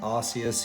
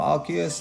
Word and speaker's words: Arceus: rayquaza a genesect and rcs himself or arceus depending on how you want to pronounce it um don't know what